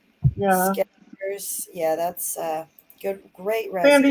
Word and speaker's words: Skechers: You pronounce that Skechers, not Sketchers.